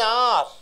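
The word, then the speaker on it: hour: An R. H-O-U-R. How do you pronounce? You don't give the H pronunciation.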